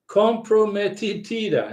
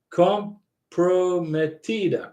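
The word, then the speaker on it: comprometida: trip to Peru outstanding compromatitida now I'm saying it wrong I say fromatida because that's lazy Spanish I guess Jose corrected me comp prometida compromatida I'm surprised Karina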